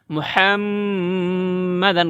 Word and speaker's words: মুহাম্মাদান: মুহাম্মাদান, অনেকে বলে কি মুহাম্মাদান, মুহাম্মাদান না, মুহাম্মাদান গুন্না করতে হবে।